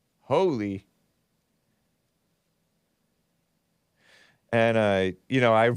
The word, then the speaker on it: Holi: so I'm like oh it's pronounced Howley I was like is it holy or is it Holly h-o-l-i right it's pronounced holy and uh you know